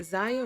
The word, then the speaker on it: Zaya: transitioning son Zaya way is it ziya or Isaiah I think it's Zaya Wade I don't want to